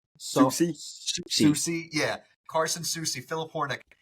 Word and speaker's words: Soucy: Soucy.